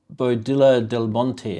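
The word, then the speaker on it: Boadilla del Monte: Well, the double L is a Y sound, but you were close though.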